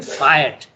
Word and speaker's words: fiat: Not only are conscience and nature violated by the arbitrary fiat. Okay, by the way, the word is pronounced fiat.